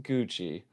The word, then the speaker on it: GXI: for correcting us uh gxi is pronounced Gucci so I think we